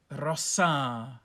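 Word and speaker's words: rosā: traveled with the rose rossa long a macron over it in the plural rossis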